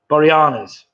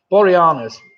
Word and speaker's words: Boreanaz: Boreanaz. Ah, that sounds more like it. Boreanaz.